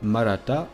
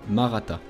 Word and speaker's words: Maratha: caste dirigeante et guerrière que l'on appelle malata dans la langue locale donc si on prononce à la française maratta si vous souhaitez avoir des